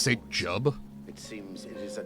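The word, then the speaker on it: Jiub: Saint Jub, who drove the cliff racers from Vardenfell, has fallen to the It's pronounced Saint Jub? It seems it is a dire I situation. always pronounced it throughout Juib.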